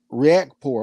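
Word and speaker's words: Riakporhe: you lady chan said richard surname is pronounced react react poor okay you know i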